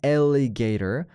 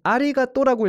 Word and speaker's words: alligator: alligator, A-L-L-I-G-A-T-O-R, 이거 alligator이라고 읽어줘야 되는데, 그걸 이제 읽지 못하는 친구가, 그 단어를 몰랐던 친구가 이제 선생님이 읽어봐 그랬더니 아리가또라고 읽었다라는 그런 내용.